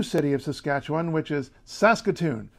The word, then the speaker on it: Saskatoon: the number two city of Saskatchewan which is Saskatoon Saskatoon Saskatchewan sounds great doesn't it they have the